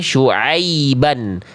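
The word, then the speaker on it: شعيبا: Kalau setengah diangkat yang keluar bunyi vokal e. Vokal i-nya tidak akan clear. Ah, angkat ke atas, Bunda. Oke. Nah, jadi dibacanya syuaiban. Suuai ai. Kalau tengah lidah kita naik dengan maksimal pasti vokalnya vokal I. Enggak akan jadi vokal e. Enggak akan miring, ya.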